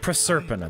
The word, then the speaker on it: Proserpina: Proserpina, that's how you say it.